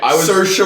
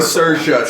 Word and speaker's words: Saoirse: Charlize Theron from Bombshell, Scarlett Johansson from Marriage Story, Saoirse. That's how you pronounce it. Okay, Saoirse Ronan.